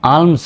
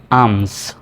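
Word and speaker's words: alms: তাহলে এল এর উচ্চারণটা সাইলেন্ট সি এল এম উচ্চারণটা হবে কাম পি এল এম পাম পালম নয় এল এম এস আম আলমস নয় আমস বি এ এল এম বাম 11 নাম্বার নিয়ম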